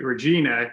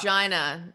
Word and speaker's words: Regina: Now let's take it back to Regina. You're working, I guess, a full-time job. I'm going to correct you. It's Regina. It's the city that rhymes with fun.